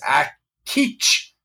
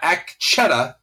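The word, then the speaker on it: Akecheta: the butchering alas no if we take our pronunciation cues from everyone's authoritative welshman the name is act teach but uh at teach at uh not act Chetta not a cat shedder nor act someone wrote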